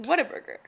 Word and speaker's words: Whataburger: what a burger no you're pronouncing the h too much no wait no no like that was way too much it's whataburger what a burger no whataburger like almost like you're saying water burger i know like almost